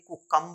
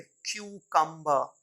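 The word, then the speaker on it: cucumber: एम बी ई आर ये कुकं नहीं है क्यू कंबर क्यू कंबर फिर ी ए एल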